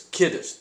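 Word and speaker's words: Kidist: but it's Kiddist. The accent is on the first syllable.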